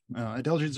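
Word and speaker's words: adelgids: lot harder to pronounce an easy way to remember it might be think of a singer Adele there she is now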